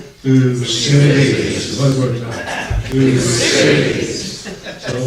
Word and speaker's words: Thucydides: So, the great thinker is Thucydides, and I'm glad that Adam pronounced his name correctly. Just so that for sure you learned something this morning, in unison, 1, 2, 3, we're going to say his name. Thucydides.